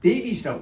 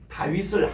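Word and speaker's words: דוד: 우리는 한국 사람은 다윗 할 때 그냥 다윗이라고 이렇게 하잖아요. 이 사람들이 이 다윗이 미국 사람들이 이걸 뭔가하면 데이빗이라고 발음해 버린다고. 전혀 히브리하고 다른 발음. 우리는 이 다윗이 그대로 이 발음이거든요. 우리 따라합시다. 달레스. 와우. 달레스. 그래서 이 달레스는 이 다윗인데 이름이 디귿이고 그다음 위선 W잖아요. 그리고 IT에서 우리 다로 그대로 다윗이 정확하게 히브리 발음이에요 이게.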